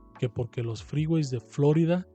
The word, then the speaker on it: Florida: porque los freeways de Florida con la sílaba tónica en la o y no en la i como se decía en México esos topes que estaban